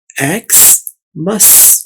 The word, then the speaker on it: Xmas: इसको मिस नहीं पढ़ना, आपने इसको मस पढ़ना है एक्स मस।